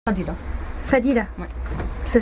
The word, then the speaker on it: Fadila: Fadila. Fadila. Ouais. Ça s'écrit F-A-D-I.